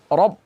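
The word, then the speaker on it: ربه: Baik, kata-kata li rabbihi ada huruf ra baris atas dibacanya tebal, kemudian ketemu dengan ba tasydid. Rob, jangan dibaca rab, tidak. Harus tebal ra-nya.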